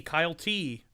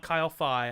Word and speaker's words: Kyle T: Kyle T. It's not Kyle Phi. I've said it wrong a couple of times.